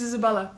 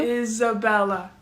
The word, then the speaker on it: Isabella: it right good to be my name is Isabella oh hi Isabel Isabella Isabella is uh Isabella Isabella Isabella Isabella Isabella Isabella is Isabella Isabella I just get really nervous before I